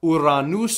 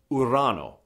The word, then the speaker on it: Urano: us out of it notice it's not iran news so it's simply iran oh and when it came